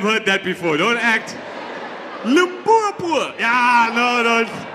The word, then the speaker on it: Limpopo: As one young fellow said, that's how you're supposed to pronounce it. Limpopo.